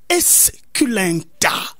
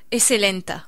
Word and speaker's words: esculenta: Le nom scientifique du manioc, c'est le maniot esculenta. Je le prononce comme ça.